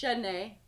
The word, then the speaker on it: Domichnee: Instagram, Domichnee, pronounced Shanae, DOMICHNEE, and Facebook, Instagram, Miss Domi Diva, and that's pretty much.